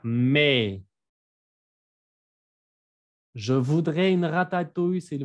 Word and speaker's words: mais: Y el me no se pronuncia maíz, ¿eh? No váyanse a comer un elote. Se pronuncia me.